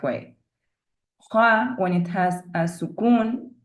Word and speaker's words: خ: So the next two, Kha and Kaf. Kha as in Khalid, Ikhlas, usually wrongly pronounced as Khalid, Ikhlas.